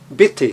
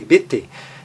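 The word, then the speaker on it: bitte: Veja que esse I, está ali na transcrição fonética, tem o som breve, porque ele tem dois T's após ele vem seguido de duas consoantes, iguais, inclusive, então tem um som breve, BT.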